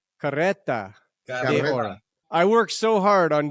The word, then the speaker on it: Carreta de Oro: Carreta de Oro.